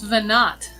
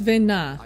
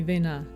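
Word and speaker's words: Venat: was vernat not vanar no it's venna like silent tea like french next we meet clearly said vennar that's because they're british voice actors if properly pronoun pronounced it would be vena the t isn't pronounced that's all that really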